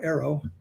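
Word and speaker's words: AARO: The other thing is, when she makes a statement like that about ARROW, that's how we pronounce the acronym now, ARROW, that statement may be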